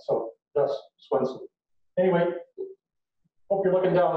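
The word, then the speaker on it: Svendsen: spelling to s-w-e-n-s-e-n because in denmark where my grandfather came from for some reason the v is the w and the d is silent so that's swenson anyway hope you're looking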